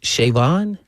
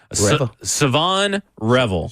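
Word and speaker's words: Shavon Revel: Was it Shavon? Savon Revel. The H is silent.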